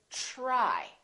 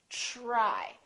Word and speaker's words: try: example TR r y we don't say TR it becomes like a CH sound we say try try so the TR together make this sound almost like a CHR almost like CH but it's a softer one it's ch try try so let's look at